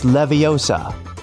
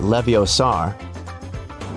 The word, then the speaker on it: Leviosa: Hey Siri, it's Leviosa, not Leviosar. Measure app.